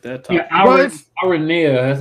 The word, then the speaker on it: Aranea: Yeah, Aranea, that's how you say her name.